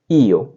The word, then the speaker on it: io: तो सबसे पहले आता है मैं के लिए लिखा जाता है IO, और बोलेंगे इसे ईओ, ईओ। उच्चारण इसका होगा ईओ, ईओ।